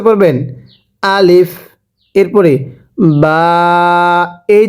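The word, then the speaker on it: ب: আলিফ, এরপরে বা, এই যে এই হরফটির নাম হলো বা, বায়ের নিচে একটি নক্তা থাকবে, পড়ুন আলিফ। এরপরে বা, আরেকবার বা, এই বাটা দুই ঠোঁট থেকে উচ্চারণ হবে।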